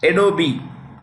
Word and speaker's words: Adobe: He is the CEO, President, and chairman of Adobe. The E is pronounced.